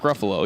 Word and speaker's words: Ruffalo: Mark Ruffalo, yeah. Rhymes with Buffalo. It does rhyme with Buffalo.